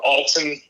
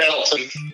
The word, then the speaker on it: Alton: Went to Alton, not Elton, because he'll probably be in the chat. But the town up here is spelled the same. It's called Alton.